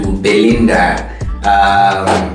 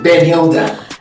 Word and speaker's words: Benhilda: What do you mean the H is silent? How is it? In the I? And the I, it's silent. So you're creating names in your head now. You're switching it. Because it's Ben and then Hilda.